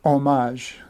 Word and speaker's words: homage: Well, I usually say homage, right? Because it comes from the old French word homme or homme, which means after the person.